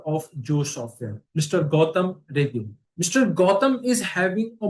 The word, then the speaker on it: Rege: Gautam, am I pronouncing correctly? Rege, Gautam is it Rege. correct? Yeah, Gautam Rege.